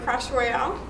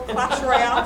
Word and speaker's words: Clash Royale: Um, Jacob, I want to thank you so much for trying trying to teach me how to play Crash Royale or Clash Royale. Sorry, wrong pronunciation.